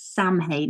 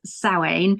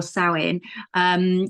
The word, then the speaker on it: Samhain: It's pronounced, it looks online as if it's Samhain is how it's spelled, but it is Samhain or Samhain, which I believe comes from the Old Irish of summer's end.